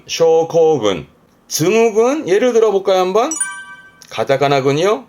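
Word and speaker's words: 症候群: 발음은 쇼코군, 쇼코군.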